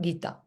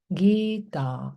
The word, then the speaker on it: Gita: And then Gita, E is long, A is long, E, A, Gita, not Gita, Gita. That's the proper pronunciation in Sanskrit.